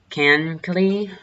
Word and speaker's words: Kankakee: This does extend as far south as Kankakee. I think that's how you pronounce it.